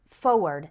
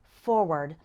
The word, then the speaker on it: forward: when we're pronouncing it f-o-r-w-a-r-d again when speaking fast we often say it like forward as if there wasn't that first r but you need to